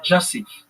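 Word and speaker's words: Jasif: incorrect here it's not use it's Phonetically it's pronounced Jassif.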